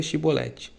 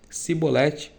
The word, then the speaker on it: Chibolete: Se respondesse que não, diziam, então diga Chibolete. Se ele dissesse cibolete, sem conseguir pronunciar corretamente a palavra, prendiam-no e matavam no lugar da da passagem do Jordão.